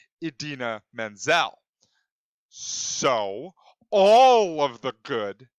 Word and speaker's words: Idina Menzel: But the one thing that he did get wrong was he said the name wrong. It was indeed Idina Menzel.